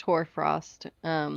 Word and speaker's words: hoarfrost: It is It's pronounced hoarfrost.